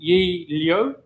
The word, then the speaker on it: Yi Liu: We have a new champion in Yi Liu. Is that the correct pronunciation?